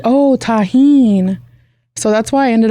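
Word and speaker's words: Tajín: did you get the name Tajin Queen just the like the ingredient yeah hmm but I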